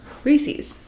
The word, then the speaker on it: Reese's: when I stole the Reese cup? Yeah. People blasted me for how I pronounce Reese's cups. Reese's. Reese's. I stole a Reese cup. A Reese's cup.